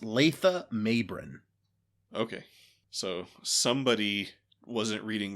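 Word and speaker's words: Latha Mabrin: All right, so in his article in Memory Alpha, it does say that the script specifically calls out his name is pronounced Letha Mabrin.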